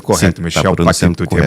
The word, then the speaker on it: Patitucci: É de origem italiana, né? É que nem coach. Coach Isso. é com 2C. Então, 2C em italiano é T, né? Então, seria o correto, Patitucci. Mas tem algumas pessoas que